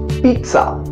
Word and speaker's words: pizza: So it's going to be peat, peat, pizza, pizza, peat. The t sound should be there.